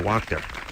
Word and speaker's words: Wachter: I'm going to go with Wachter. You got it. Yeah. Rhymes with doctor.